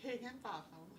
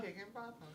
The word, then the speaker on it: Higginbotham: Higginbotham. Higginbotham. Did I say it right that time? Higginbotham, yes.